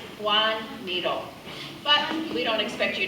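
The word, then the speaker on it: Joan Miró: um it's pronounced and I'll say it the way he would have said it himself speaking Spanish which is his native language Juan needle but we don't expect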